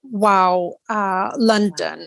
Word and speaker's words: WOW London: well yeah I mean everyone I speak to pronounces it differently but ultimately it is wow uh London and it is women artists art week uh London abbreviated as wow London okay excellent could you